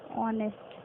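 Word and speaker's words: honest: क्योंकि ऑनेस्ट में भी एच यहाँ पर साइलेंट है, और आपकी जब आप प्रोनाउंसिएशन कर रहे हैं इसका, जब आप इसे बोल रहे हैं, तो ओ की साउंड आ रही है, एन ओ वॉवल है।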